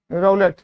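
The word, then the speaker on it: roulette: बड़ा अच्छा वर्ड है आर ओ यू एल ई टीटीई रोलेट जो प्रोनाउंस करते हैं अब कैसीनो आपने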